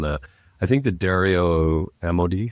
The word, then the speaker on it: Amodei: I think the Dario Amodei, how do you pronounce Dario's name?